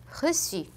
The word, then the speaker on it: reçu: Ça, leçon, reçu. 만약에 이 꼬리가 없었다면 원래는 꺄라고 읽혔을 거예요.